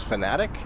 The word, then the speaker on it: Fanatec: I think they just pronounce themselves Fanatic, like as if it's Fanatic.